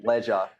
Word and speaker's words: Dead Leisure: leisure. It's all right because it's like dead and then ledge. It's like rhymes a little bit when we say it.